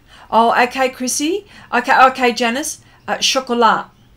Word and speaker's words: chocolat: Chocolat. Oh, don't pronounce the T.